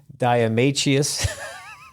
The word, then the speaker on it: diatomaceous: Diatomaceous. I could never pronounce that word.